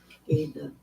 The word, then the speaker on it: Aida: Oh, it's because the Ida cloth is at a wide pitch. Whatever. Ada. Look at the chat. Either one is acceptable, and considering it's spelled AIDA, I don't think I really care. Ada.